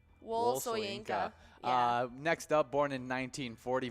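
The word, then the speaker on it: Wole Soyinka: Wol Soyinka.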